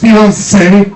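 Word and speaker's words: fiancé: It's pronounced fiance. There's an accent at the end.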